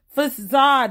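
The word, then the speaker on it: façade: Facade, woman. Facade. Facade, yes. Like a facet. Like a facet of your personality.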